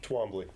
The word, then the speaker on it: Twombly: Twombly. Twombly. Yep, the English pronunciation, not the French.